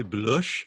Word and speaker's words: Blush: Again did you say blush F Fatima hard it's real hard not to say Bush isn't it I try to say it like her because it's just blush it's blush I don't